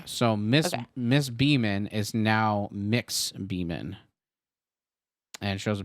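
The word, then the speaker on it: Mx.: now I go by Mix Beeman. It sounds like MIX Beeman."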